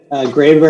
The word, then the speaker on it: Graber: that i can interview greber please tell me if i pronounce your name in the right way yes you did graver is the way it's pronounced okay so uh um